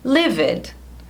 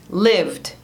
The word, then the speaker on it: lived: Esse verbo aqui, eu escuto muita gente falando livid, ou livid, livid. Mas em inglês também a gente fala lived, lived. Uma sílaba só com som de D no final.